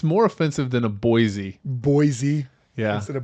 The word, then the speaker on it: Boise: the capital of Idaho think of a boy and then the capital letter c yeah it's easy boy c yeah yeah I think